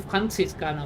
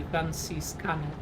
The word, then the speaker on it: Franziskaner: in German as Paulaner, and Franziskaner, which would be Franziskaner, if you don't pronounce it in the thing.